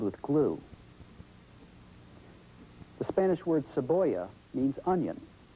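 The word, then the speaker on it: cebolla: glue the Spanish word saboya means onion we'll take the middle syllable of saboya which sounds like the English word boy and you can see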